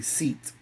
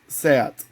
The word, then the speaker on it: SEAT: a Spanish brand so if someone in English would have read it would say seat but it's actually pronounced sat and this like I